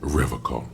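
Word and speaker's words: Revachol: He pronounces Revocol with a hard K, unlike Revocol.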